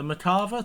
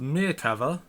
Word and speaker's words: Merkava: Today we'll be having the Tier 7 MBT, the Merkava 2D, which is a premium. Let's have a look at some stats. So I will be comparing I've been told that it's pronounced Merkava, not Merkava, Merkava.